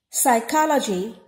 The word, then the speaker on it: psychology: is not however honest psychology p is silent which comes in the beginning psychiatrist p is once